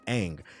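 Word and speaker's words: Aang: Nobody stopped to pull the show up and see that his name is pronounced ang.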